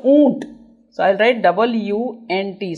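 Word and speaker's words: ऊँट: So, it is pronounced as oont. Oont. Or you can say as a double O also you can use. Double O also you can use oont. But the nasal word is there.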